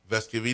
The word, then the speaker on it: Vescovi: At the time, Vescovi did not correct folks.